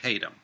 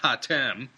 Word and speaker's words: Hatem: Now, those who know of George Haydom will remember him from the CHP episode 62 on 4 noted foreigners buried at Babaoshan Cemetery. George Haydom, who I openly admit I incorrectly pronounced Hatem, was one of the 4.